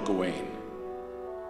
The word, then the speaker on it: Gawain: miss studying the sword under my commander general gawain well that's how you pronounce that when the time comes for you